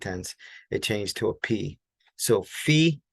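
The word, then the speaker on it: π: in the United States we would call it PI right but with harassment pronunciation we call it P so P okay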